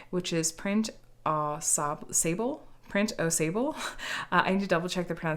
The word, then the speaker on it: Au Sable: I was pronouncing it like it was one word, like Aussible or something, and it turns out that no, it's named after the O Sable or Au Sable.